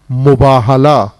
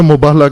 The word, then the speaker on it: مباہلہ: مباہلہ، مفاعلہ، مقاتلہ، مقاتلہ نہیں مقاتلہ.